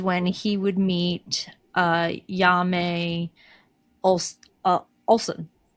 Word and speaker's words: Janne: It is spelled j a n n e. But cuz of Swedish, it's pronounced Janne.